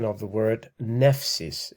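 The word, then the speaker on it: νεῦσις: is called the diphthong and that's basically the pronunciation of the word nephsis it's also the same like for example if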